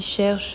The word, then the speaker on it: cherche: On prononce cherche Rome, donc on prononce le E de cherche à la fin, parce que le mot qui suit est une consonne, la consonne R.